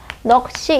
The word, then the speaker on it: 넋이: 자, 그래서 여기 보시면 넋이 같은 경우도 보면 하나씩 가져 나누면 어떻게 돼요? 넋이가 되고요. 기역과 시읍 평평한 자음끼리 예사소리끼리 만나니까 한쪽을 강하게 발음하는 거죠. 넋이 이렇게 된 소리 조건이 돼서 넋이 된 소리로 발음되는 거죠.